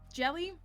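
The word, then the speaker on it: Djèlí: It's Jelly. It's like D-J-E-L-I.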